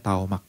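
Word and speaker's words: תָּמַךְ: Itu ditulisnya tamak, ya, dibacanya taomak.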